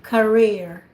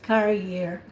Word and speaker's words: career: the word career so this is a profession career i heard that you pronounce it as carrier so carrier is a thing that when you